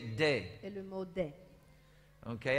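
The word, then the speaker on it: δέ: The word D-E-H, or we say day. Et le mot day. Okay, everybody say day. Day. Ça se prononce comme ça en grec.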